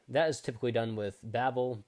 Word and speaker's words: Babel: everyone yet so that is typically done with Babel Babel and pronounced however you want it's yeah they call